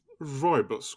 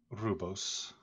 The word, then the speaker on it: Rubos: You're Roibus, correct? Rubos. Yes. Haven't heard it pronounced, simply in writing.